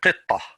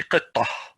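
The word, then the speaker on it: قطة: But ta marbuta is, if you stop, it's pronounced as a ha. If you continue, it pronounces as a ta. For example, here, qitta. If I'm going to stop, I'm going to say qitta.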